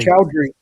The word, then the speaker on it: Choudhury: I think I think her last name is pronounced chesh chesher chowry chowry chowry yeah and their album is